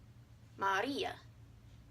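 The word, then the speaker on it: María: Mario Mario two syllables Maria Maria three syllables the accent tells you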